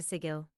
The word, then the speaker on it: Sigil: How did I get to Sigil? No, you say it like giggle.